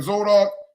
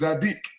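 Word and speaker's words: tzadik: But this is how they pronounce it in the Hebrew. Instead of saying Zodok, it's Zadic.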